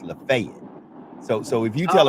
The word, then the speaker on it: Lafayette: where I come from Lafayette is pronounced lafay so so if you